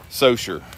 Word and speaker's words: Saucier: So when we go out of town, a lot of times we hear the announcer say that Chase is from Saucier, Mississippi. Saussure is the proper pronunciation for it, pronunciation, but we actually live in Success.